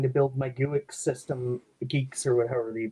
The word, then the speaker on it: Guix: And I seem to recall there being issues when I was last trying to build my GUIX system, Geeks or whatever you pronounce it. Yeah, Geeks.